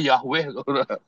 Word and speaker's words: Yahweh: Kalau bilang Yahwe, Yahwe, Yahwe, Yahwe itu cuma empat mainan kayak sama seperti kalau kamu bilang Yahoo begitu, Saudara ya. Karena tulisannya sama Yahoo sama Yahwe itu bacanya sama tuh Yahoo ya.